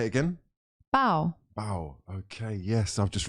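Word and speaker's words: bao: Oh, is it that is that how you spell it? B A O. Yeah. Oh, say it again. Bow.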